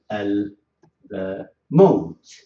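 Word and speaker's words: الموت: If I take with mim, maybe I say Al maut. As you see here, also I have to pronounce.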